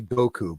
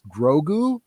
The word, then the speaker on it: Grogu: too it's uh uh i keep saying it wrong i keep wanting to say goku but it's not goku it's grogu grogu grogu i think is his name nope not sold i'm